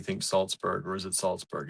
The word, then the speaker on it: Salzburg: Marianne says, I think Austria when you think Salzburg, or is it Salzburg? It's the second one. It is spelled the second way, and it is Salzburg, Pennsylvania.